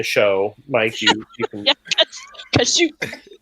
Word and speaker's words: Kashyyyk: Like when I was reading Aftermath, and he goes to Kashyyyk, or however they pronounced it in the show. Mike, you can. Yeah, Kashyyyk. It's Kazook in the holiday Kazook.